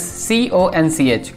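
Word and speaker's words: xonsh: a look the next that we have is cons yes it is pronounced as c-o-n-c-h conch you can think of conch as a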